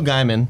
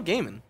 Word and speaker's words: Gaiman: Yeah, it's Neil Gaiman. Whatever. I say Gaiman because it rhymes with diamond.